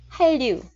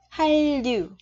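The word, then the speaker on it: 한류: Này là quy tắc phát âm, bạch chim là chữ N, theo sau nó là chữ R, thì chữ N này mình sẽ đọc là R.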